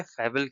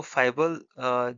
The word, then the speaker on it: fable: नाउ अब हम लोग समझेंगे फैबुल क्या होता है? तो फैबुल जो है इसका एक्चुअल उच्चारण क्या होता है? फेबुल। फबुल यह इसका एक्चुअल प्रोनाउंसिएशन होता है।